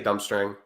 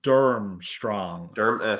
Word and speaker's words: Durmstrang: I'm going to say Dumbstrang.